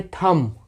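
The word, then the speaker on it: thumb: है तो यहां पे यहां पे भी 20 साइलेंट है आपका तो इसको हम पढ़ेंगे थंब थंब कितने लोग थंब पढ़ते हैं गलत है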